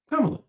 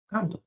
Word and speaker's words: Kamala: They learn to pronounce Giannis Antetokounmpo. And you telling me they can't say Kamala? Kamala. Kamala.